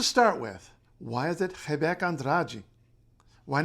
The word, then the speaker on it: Rebeca Andrade: Heek andrai why not Rebecca Andrade I mean that's what it looks like right yeah so um Portuguese yeah um Portuguese is not pronounced like Spanish or really like any other language and in fact Portuguese